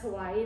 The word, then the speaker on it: Hawaii: And fun fact, they all pronounce Hawaii there Hawaii. Hawaii. Did you know that?